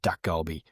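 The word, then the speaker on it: dakgalbi: thing to cook is a Korean dish called duck goby, which is a chicken. Okay. How do you how do you spell that?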